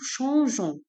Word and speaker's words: changeons: Donc je mets E pour prononcer G avec O, Jo. Donc elle devient nous changeons.